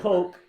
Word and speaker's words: Koch: him to to actually say his name as as Coke in in uh in the game so it it's it's Coke according to mikee Goldberg so that's what I'm